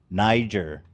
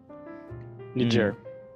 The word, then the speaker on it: Niger: It's supposed to be pronounced with a J, I think.